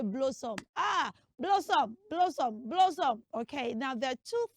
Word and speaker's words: Blossom: It's spelled Blossom. That name is not rightly pronounced as Blossom. Say blah. Everybody say blah. Blah. Good. Say after me. Blah. Blossom. Blossom. Blossom. Yeah, so don't say blow. It's not blow.